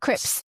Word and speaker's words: crisps: I would say, "Okay, think of the name Chris." And then you need to be able to pronounce that PS sound on its own like Yeah. So it's Chris and then ps.